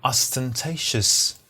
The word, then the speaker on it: ostentatious: Jewelry that are flashy, that are showy, that are ostentatious. This word is difficult to pronounce. So pay attention very closely. Ostentatious is stress the right syllable.